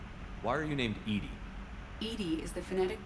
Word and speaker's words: EDI: a specific inquiry why are you named Ed Ed is the phonetic pronunciation of Eed that is an acronym for